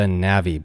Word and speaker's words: Navvy: boot which they call the navi boot that isn't a mispronunciation or misspelling the spelling is like Navy but with two v's Navi is an older